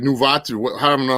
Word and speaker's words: Nunavut: Okay, they added like Nuvat or what? I don't know how to pronounce it. Nunavut.